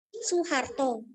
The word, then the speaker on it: Soeharto: Soeharto, Bapak Soeharto ya, tapi tulisannya Soeharto. Kalau ditanya kenapa tulisannya seperti itu, tapi dibacanya tetap Su, tulisannya Soe, dibacanya Su, karena itu ejaan lama.